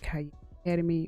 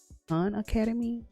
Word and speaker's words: Khan Academy: I said like Cayenne Academy, but it's Khan Academy. I know some people pronounce it also.